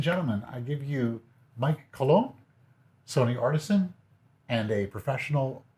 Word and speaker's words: Colón: So, ladies and gentlemen, I give you Mike Colón, Sony artisan, and a professional wedding photographer and wedding fashion photographer.